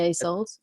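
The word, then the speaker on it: Isolt: But actually, that got me thinking what you just said, knowing that Iseult, is that how you say her name? Yeah, Iseult. Yeah.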